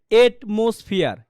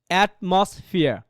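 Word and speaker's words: atmosphere: আচ্ছা, আরেকটা বলেন কি অ্যাটমসফিয়ার, ওটা সঠিক উচ্চারণ দেখেন, আপনি যদি পড়েন এটমসফিয়ার, এটমসফিয়ার মানে পরিবেশ, রাইট? ওটার প্রোনাউন্সিয়েশন হচ্ছে কি অ্যাটমসফিয়ার, অ্যাটমসফিয়ার।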